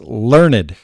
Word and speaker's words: learned: And pretty soon you're going to become what they call learned, which is spelled just like learned, but it's learned.